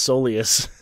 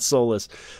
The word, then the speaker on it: Soleus: if right or wrong apparently it's soleus and not soulless so so Li is